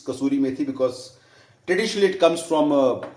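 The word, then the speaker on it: kasuri methi: call as kasuri Mii and lot of people pronounce it as casturi miti no it's not casturi miti it's casturi meti because traditionally it comes from City or province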